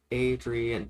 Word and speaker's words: Adrien: This is going to be Adrien Silver, which Adrien, that is three syllables, in case you were wondering.